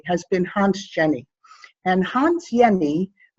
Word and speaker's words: Jenny: And Hans Jenny, J is actually pronounced as Y, he's Swiss.